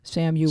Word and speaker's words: Samuel: It's actually 3 syllables. Samuel.